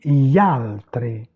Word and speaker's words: gli altri: On dit gli altri, on ne prononce pas le I.